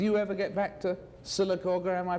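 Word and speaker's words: Sylacauga: I mean do you ever get back to silaga am I pronouncing it right that's right silaga yes the population now is about what oh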